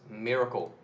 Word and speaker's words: MRKL: reasoning knowledge and language so it's pronounced as Miracle very fancy for name but it's a simple